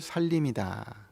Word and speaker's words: 산림: 이게 매산자 산, 숲을 림 해서 산림인데 우리 발음이 이거를 살림이다 이렇게 발음하잖아요.